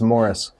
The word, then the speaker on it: Maurice: stronger more strong yeah it's spelled maurice but he says it's morris interesting uh those guys